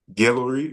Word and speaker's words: Guelory: your own narrative on Instagram it's literally how it's spelled build your own narrative gillery which is my first name gu e l